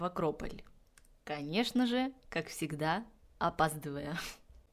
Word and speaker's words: Акрополь: Так что запомните и вы, что в русском языке правильно говорить акрополь. Я просто уже немножко запуталась со всеми языками на греческом. По-моему, он называется акрополис. Нет, акропали. Акрополи. На итальянском акрополист, на русском это будет акрополь.